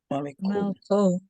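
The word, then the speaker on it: מַלְכּוֹ: How do you say his king? Malko. Malko. Why? Because the original form was malk. So we're taking malk and adding an O, malko.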